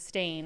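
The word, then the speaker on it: Berenstein: then it's b-e-r-e-n and then it's Steen versus stain and again I heard that it was the pronunciation with stain and I'm like why would it be staying if it's s-t-e-i-n it's not so um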